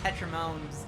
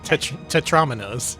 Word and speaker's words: tetromino: Fred Flintstone has gone nuts, and there are Tetramones going everywhere, destroying the world. Tetramones? Tetra whatevers. What are they called? Tetramo? Tetrominoes.